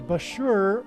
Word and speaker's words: Bushehr: Bushehr nuclear power plant, and Bushehr rhymes with Barker.